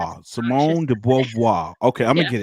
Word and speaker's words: Beauvoir: That's Beauvoir. obnoxious. Simone de Beauvoir.